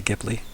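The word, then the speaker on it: Ghibli: has those pronunciation where some people say JBL and other people say gibli kiten gibl gibl is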